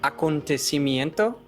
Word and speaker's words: acontecimiento: envejecer, to age, and acontecimiento. Look at how many syllables. Acontecimiento. 6 syllables, 6 sílabas.